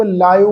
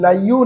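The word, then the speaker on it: ਲਾਇਓ: लायो पाठ है जी। लायो, इनू लाइयो नहीं पढ़ना, कई इनू लइयो पाठ प्रोनाउंस करते, लइयो नहीं आ, लायो।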